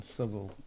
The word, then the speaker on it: Southwell: he works in in civil isn't it southwell actually as they pronounce it there yeah um yeah which